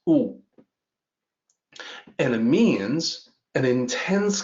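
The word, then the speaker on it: 惡: evil malicious malevolent but when you use it as a verb in traditional Chinese it sounds different it's ooh and it means an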